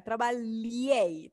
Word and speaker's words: trabalhei: trabalhar é super legal atenção aí com a pronúncia desse LH trabalhei trabalho ele é OK